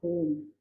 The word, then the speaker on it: Om: It has three syllables, A, U, and Ma.